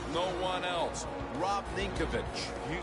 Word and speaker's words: Ninkovich: Rob Ninkovich.